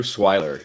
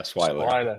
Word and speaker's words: Swiler: name before we do this so I'll do swier swiler or swier swiler yeah yeah yeah swiler smer right we can't do retakes when we're